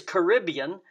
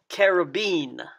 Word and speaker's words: Caribbean: And by the way, there seems to be two pronunciations of this word. One is Caribbean, and the other is Caribbean.